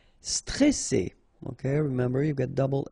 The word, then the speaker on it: stressé: So C, alright, and then here you get this E before the double S, so it will open the pronunciation of the E, stressé, stressé. Stressant, okay, final T not pronounced, and then A-N, stressant.